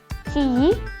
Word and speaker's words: Qiyi: Here it says Qy, but I don't know, for some reason we just pronounce it Qiyi.